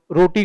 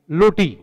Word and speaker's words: रोटी: आपने देखा होगा कि लोग रोटी को लोटी के रूप में उच्चारित करते हैं, यानी रोटी लोटी के रूप में लोग जानते हो, उसी रूप में वो बोलते हैं।